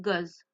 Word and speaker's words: goes: On rajoute s à la fin qui nous donne goz. Donc goes, l'appareil, attention à la prononciation.